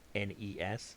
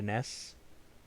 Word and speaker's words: NES: It's called the NES, by the way. That's the proper way to say it. NES. Say the letters. If you're calling it a NES, you're wrong. You're just wrong.